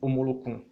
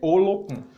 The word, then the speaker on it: Olocum: Que eu errei na pronúncia quando me referi à questão da mãe de Iemanjá, onde eu falei Omolocum. Então, é Olocum.